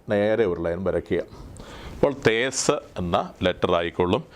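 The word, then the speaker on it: Teth: അതിൻ്റെ മലയാളം പ്രൊനൗൺസിയേഷൻ എന്നുള്ളത്, തേസിൻ്റെ പ്രൊനൗൺസിയേഷന് ദ എന്ന മലയാള പ്രൊനൗൺസിയേഷൻ ദ.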